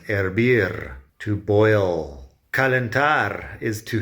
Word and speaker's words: hervir: Hervir is to boil. As usual, the H is silent. Hervir, to boil.